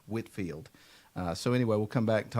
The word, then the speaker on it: Whitefield: I know if you've never seen this before, it looks like it's Whitefield, but it's actually pronounced Whitfield.